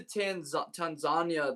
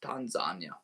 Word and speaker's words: Tanzania: Like I gotta be like when I went to Tanzania this summer, I always thought it was Tanzania. Till I went there, they pronounce it as Tanzania.